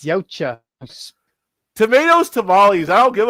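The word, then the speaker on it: Yautja: Uecha? It's Yocha. Tomatoes, tamales. I don't give a fuck. Tamales. It's like pronouncing the xenomorphs as xenomorphs or some retarded shit.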